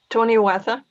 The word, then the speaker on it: Toniawatha: How do you pronounce this again? Toniawatha? Toniawatha. Okay, Toniawatha.